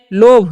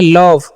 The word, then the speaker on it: love: अब है LOVE, तो इसे हम क्या पढ़ते हैं, लोभ नहीं, इसे पढ़ना है लव।